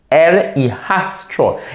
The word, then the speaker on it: el hijastro: So stepson, el hijastro. It looks difficult, but it's not difficult to pronounce. Just syllabicate it, 2 letters at a time.